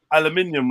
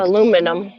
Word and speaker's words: aluminium: the cans out of aluminium right or aluminum how do you say it Al that was crazy aluminium yeah you say aluminum you just mess English